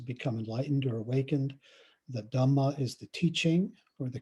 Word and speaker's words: dhamma: a word about dhamma the dhamma of course is the pali pronunciation of the word dharma which generally has a lot